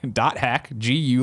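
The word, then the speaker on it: .hack//G.U.: and says on yesterday's show you said the dot hack slash slash GU dot last recode released yesterday but it actually really stay on PlayStation 4 and steam also the title is pronounced dash dot hack GU last recode she already corrected me on that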